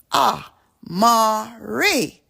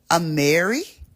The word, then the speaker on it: Amari: they start to really check out my name ah Mari and then they say that don't make sense and then they pronounced it another way and they said a Mary a Mary they be like